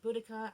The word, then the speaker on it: Boudica: This is when, well, there's two pronunciations, Boudica and Boadicea, okay?